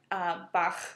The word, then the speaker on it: Bach: It's a softer sound, right, with the Bach, not mm-hmm. Bach, the way that we would say it.